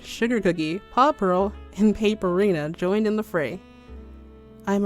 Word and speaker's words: Paperina: The Paper Girls' usernames are paper puns, so they are pronounced Paperl and Paperina. Missy Magic, Sugar Cookie, Paw Pearl, and Paperina joined in the fray.